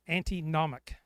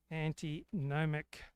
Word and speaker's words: antinomic: And I didn't know the meaning of the word antinomic. How do you even pronounce antinomic pronunciation?